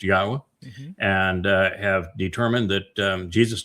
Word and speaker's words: Yahweh: And then, the series introduction to God, where I actually come up with proof that God's name is pronounced Yahweh, and have determined that Jesus never existed, that David is the actual Messiah, Son of God.